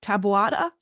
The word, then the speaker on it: Taboada: you got some badass arms lady okay now pronounce me your last name tabata okay so i was right yeah all right